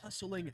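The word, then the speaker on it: Hustlin': I must say go hustling howl J heart you know it's Hustlin there's no hard G on that one there's an apostrophe what are you a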